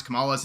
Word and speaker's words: Kamala: a moral obligation to pronounce kamala's name with an emphasis uh yeah on the first syllable I just say it